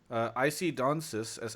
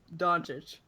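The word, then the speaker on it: Dončić: IC Donsis. How do you say your name, IC Donsis? Doncic.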